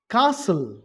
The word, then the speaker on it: castle: castle, T silent.